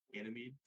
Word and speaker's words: Ganymede: Ganymede.